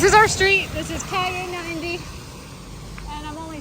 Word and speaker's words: Calle: Is that pronounced Calle? And I was like, yeah, like yippee Calle.